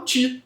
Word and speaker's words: qi: do chinês T, que se escreve com Qi, mas se pronuncia como se fosse ch.